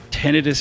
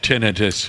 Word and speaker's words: tinnitus: But the thought is that tinnitus is basically a part of your hearing spectrum.